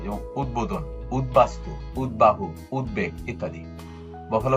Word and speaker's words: উদ্বোধন: উত উপসর্গযোগে গঠিত শব্দের ত দ এর সঙ্গে, অর্থাৎ ত যখন দ হয়ে যায়, এর সঙ্গে যুক্ত বফলা অবিকৃত হয়ে উচ্চারণ হয়। যেমন উদ্বোধন, উদ্বাস্তু, উদ্বাহু, উদ্বেগ ইত্যাদি।